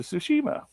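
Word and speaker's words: Tsushima: your name ghost to sushima I hope I pronounced that right I think I did because it the T silent one of roots yeah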